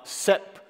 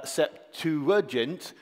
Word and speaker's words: Septuagint: with the seent and then it gives you the various pronunciations so um let's go through them they are seent and uh septent uh oh no so where you've got the the little stroke is where the stress syllable is going to be uh